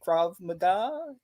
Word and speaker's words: Krav Maga: yeah also trained hopefully i say it right krav maga that's right that's right yeah so uh when